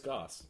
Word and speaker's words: Gauss: flays Gauss. Oh, good. Gauss. Rhymes with Gauss. house. Gauss. Gauss. Mouse. Gauss. Dr. Seuss? Gauss. Gauss. You know what? It's English. It's not have English, I said, it's German.